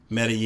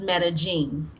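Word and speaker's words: Medellín: So, when you're in Latin America or Central America, the two L's are pronounced as a Y. So Medellin. Medellin.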